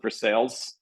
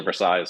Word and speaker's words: Versailles: wooden pot still um the locals do pronounce it for sales um as opposed to Versailles or the French uh pronunciation so I'm going